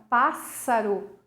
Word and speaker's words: pássaro: som do s e quando eu pronuncio a palavra pássaro é uma vez só o som do S não são dois ésses que eu vou pronunciar né por isso é